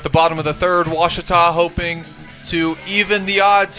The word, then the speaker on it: Ouachita: Back in Texas, everybody pronounces it Wichita, but really, it's Ouachita. Ouachita. How would you pronounce it? Ouachita. Ouachita. It's Ouachita Baptist University. Get it right. It's Ouachita, people.